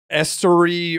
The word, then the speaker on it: Esteury: Anyways, Esteury Ruiz.